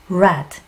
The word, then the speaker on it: read: red. 그렇죠. red는요, 빨간색이잖아요. 맞아요. 발음은 red. 빨간색이랑 똑같이 합니다.